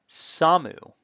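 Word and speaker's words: שָׂמוּ: So we begin, samu. Note that the stress with the accent mark is on the first syllable, tipping us off that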